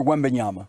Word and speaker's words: Wembanyama: get lucky in the lottery and you get Wembanyama, and I know I say his name wrong, but say it, Reggie. Victor Wembanyama. Wembanyama.